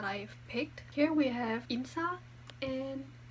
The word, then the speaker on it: 인싸: Here we have insa and asa. That's how you pronounce it.